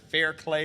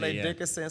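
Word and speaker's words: Fairleigh Dickinson: I still can't pronounce the team. That Fairclay, or like Farley Dickerson University. Fairleigh Dickerson.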